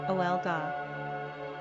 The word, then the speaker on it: Olga: Pronunciation, Olga.